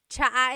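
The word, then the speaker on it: tsaa: tea that you drink, and it's spelled ts aa. Cha. Cha. That's such a Tagalog spelling. I love it. There's the ts sound and then the double vowel uh pronunciation.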